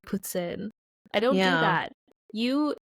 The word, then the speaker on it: poutine: about it I'm not every time someone says a poutine I don't go you have to say it like Puttin I don't do that